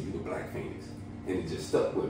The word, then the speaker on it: Feniks: the phoenix bird so I changed the name of it on pretty much how you pronounce it which is f-e-n-i-k-s so I wanted to